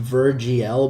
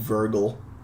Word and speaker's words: virgl: I know it's pronounced VirGL, but I love saying Virgil.